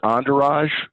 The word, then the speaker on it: Endourage: products that you offer our website is entourage which is a an easy way to remember it is spelled end hour age so e-n-d-o-u-r-a-g-e dot com all of our products